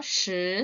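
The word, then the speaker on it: 十: 시, 스. 발음 헷갈리지 않으셔야 돼요. 4는 스, 10은 시, 4는 스, 10은 시, 1은 2, 7은 치, 1은 2, 7은 치, 6은 레오, 9는 지오, 6은 레오.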